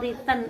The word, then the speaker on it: return: Islam adalah manfaat atau riten atau keuntungannya kalau mahasiswa ada tulisan return itu bacanya riten Ya jamalu maluin ya